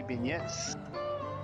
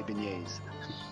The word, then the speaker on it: beignets: Beignets. Now some say beignets, but New Orleans wise you say beignets.